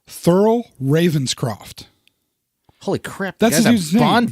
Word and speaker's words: Thurl Ravenscroft: Grinch same guy yes and yes I don't know his name Thurl Ravenscroft holy crap that's a Bond villain th URL Thoreau Thurl Ravenscroft Thurl Ravenscroft which I had to make sure